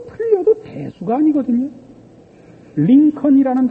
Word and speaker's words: Lincoln: 링컨이라는 단어가 Lincon이 아니고 Lincoln이에요. 몹쓸 나라 말이죠. 발음도 안 하는 철자는 왜 갖다 집어넣는지 모르죠.